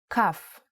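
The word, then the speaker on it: כ: Kaf actually is only pronounced like K when it has a dot inside. Just like Bet only has the B sound when it has this dot. Without the dot, it sounds like ch, chaf.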